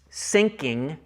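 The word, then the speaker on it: synching: It's not S-I-N-K-I-N-G. This is actually a specific play on words I'm trying to make here. Sinking as in S-Y-N-C-H-I-N-G. Sinking, where we pull a little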